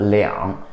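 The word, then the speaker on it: 两: Also, there's another pronunciation, it's called liang.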